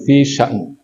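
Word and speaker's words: في شأن: Bacanya begitu, fi sya'n.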